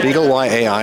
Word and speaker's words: BeagleY-AI: At the Texas Instruments booth again, and I'm here with Andrei Aldea, who's demonstrating the Beagle Y-AI. Is that how I pronounce it? Correct, yes. Beagle Y-AI, and it's doing a very interesting application here.